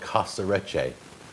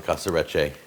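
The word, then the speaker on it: Casarecce: the show, and he said this is called Casaretche. That's the name of the pasta, Casaretche.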